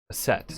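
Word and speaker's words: Aset: adaption of the name her name in hieroglyphs is that which by convention would be pronounced a set always get remembered but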